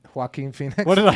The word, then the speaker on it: Joaquin Phoenix: Joaquin Phoenix.